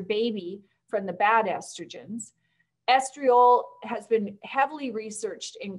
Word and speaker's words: estriol: if you've got a pan handy for 0.5 estriol and i'm going to spell it for you e-s-t-r-i-o-l so estriol esterol is the only safe estrogen and just put